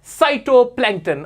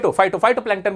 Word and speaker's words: फाइटोप्लैंक्टन: और example of साइटोप्लैंक्टन, और वो फाइटोप्लैंक्टन बल्कि इसका प्रोनाउंसिएशन है, फाइटोप्लैंक्टन के बारे में बताते हैं।